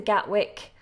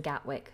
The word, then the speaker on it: Gatwick: Gatwick London Gatwick now I don't pronounce the T and I don't think many natives do pronounce the T so London Gatwick is the the best way to pronounce this Airport London Gatwick so we have Heathrow